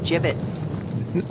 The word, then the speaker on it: gibbets: here foreign had some gibbets left over gibbets what it's pronounced jibbets are you sure yeah